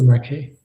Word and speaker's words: Desmarquet: Michael Desmarquet. Is that French Michel yes? Demarquet.